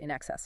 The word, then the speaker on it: INXS: By 1979, they'd changed the name to INXS, pronounced NXS, of course, started playing under that name September 1st 79.